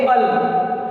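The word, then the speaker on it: -al: AL, जिसको हम pronounce करते वक्त बोलेंगे अल। समझ में आ रहा है?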